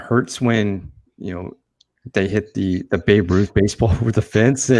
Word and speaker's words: Babe Ruth: And then the fact that the kid couldn't even pronounce his name correctly, he called it some lady Baby Ruth. Baby Ruth, yeah, it was a Baby Ruth, and they're like Babe Ruth, yeah, that hurts.